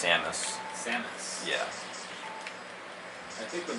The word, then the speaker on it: Samus: Samus? Actually, it's pronounced Samus.